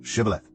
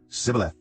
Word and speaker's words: Shibboleth: If he replied no, they said, "All right, say Shibboleth." If he said Sibboleth because he could not pronounce the word correctly, they seized him and killed him at the fords of the Jordan.